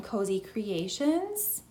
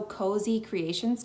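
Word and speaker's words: Cozee Creations: This sandy color, again, this one is also Cozy Creations Co. And when I say that, it's C-O-Z-E-E. So it's spelled a little bit differently, but Cozy Creations.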